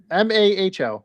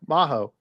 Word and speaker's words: Maho: It's M O H O or M A Ho. Maho.